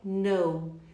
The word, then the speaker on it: know: A palavra know, eu sei, I know. Se você nunca pensou como ela era escrita, agora você sabe, K-N-O-W. K-N-O-W. Know. Por quê? Quando temos o K e o N, ele não será pronunciado.